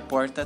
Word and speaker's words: porta: Já que, nesse caso, a língua faz uma retroflexão, indo até o fundo da boca. Você já tinha reparado nisso? O cachorro foge porque a porta tá sempre aberta.